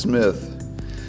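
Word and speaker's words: CMITH: It's C-M-I-T-H, pronounced Smith, not C. Smith or Smith. It's just Smith.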